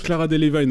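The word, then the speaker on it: Cara Delevingne: Non, mais déjà, ça se prononce Clara Delevingne, au fait, pour tout à l'heure.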